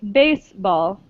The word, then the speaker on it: baseball: last one baseball no in english we say baseball baseball so in spanish right the second syllable is stressed in baseball chinese yeah good so